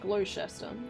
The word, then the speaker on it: Gloucester: reputable restaurant bar called the Duke of Gloucester pronounced Gloucester okay surprisingly only spent about 70 bucks for